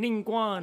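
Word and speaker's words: Ningguang: the Tien shui herself ning Guang has been acting secretly in the shadows that's how you pronounce her name ninguan she wants the rocks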